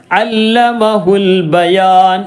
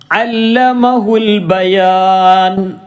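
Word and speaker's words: عَلَّمَهُ الْبَيَانَ: വായിക്കേണ്ടത് ഇങ്ങനെ അൽ ബയാൻ അല്ലമഹുൽ ബയാൻ അല്ലമഹുൽ ബയാൻ. ഇവിടെ എന്ത് ചെയ്തു, ഈ അലിഫ് ഉച്ചാരണത്തിൽ വന്നില്ല. എന്താ കാരണം, നേരെ ചേർത്തി വായിച്ചപ്പോൾ കൂട്ടി വായിക്കുമ്പോൾ ഈ ഹംസ ഉച്ചാരണത്തിൽ വരികയില്ല.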